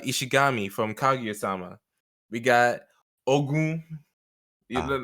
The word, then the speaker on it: Ogun: We got Ogun. Ah, I didn't say Ogun. I said Ogun because that guy's Nigerian. So, that's Nigerian. You got to pronounce it right.